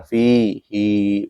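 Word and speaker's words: فيه: Kemudian kecuali di surat Al-Furqan, fihi harusnya kan dibaca pendek, fihi ini malah dibacanya panjang, fihi, begitu.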